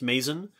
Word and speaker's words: Mazon: noticed i do not i have heard the name maison creek pronounced in a number of different ways i'm pretty sure i've heard it pronounced mason um i think i read one paper that suggested that the the traditional pronunciation should be something like mazon hey that's what i